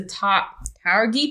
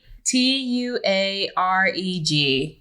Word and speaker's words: Tuareg: by, don't know how to say this, the Taurgi people in northern Africa. Oh. Taruget. Get my phone. This is already a mess. Yeah, there's lots of Okay. pronunciation. Oh, I lost it. Tuareg.